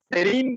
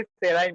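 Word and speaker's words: serine: सेरीन के बदले सेराइन, मतलब थोड़ा बहुत सिमिलर प्रोनाउंसिएशन है.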